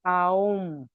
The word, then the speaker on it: ओम: ओम, हम लोग ओम बोलते हैं, लेकिन हकीकत में उसका प्रोनाउंसिएशन शुड बी आओम।